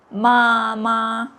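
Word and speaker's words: 妈妈: But you need to be careful when you say mama ma ma exactly same but usually the second h it come with the neutral tone which has no tone marks on the top. The neutral tone just make the words easier to pronounce. Instead of saying mama twice, you say mama. Mama. It's easier.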